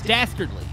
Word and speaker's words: dastardly: you got to say it together dastardly it's dastardly dastardly dly that's what D oh it means